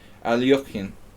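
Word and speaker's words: Alekhine: streaming anything interesting today Alexander alkyne or as nefila would make me say it correctly aliyokin um what happened in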